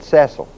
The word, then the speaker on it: Cecil: And the people that actually ran Oxford, England, were the Ceil family, not Cecil, but Ceil.